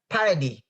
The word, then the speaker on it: Paradis: Let's all welcome to the Creative Talk, Clarissa Paradis.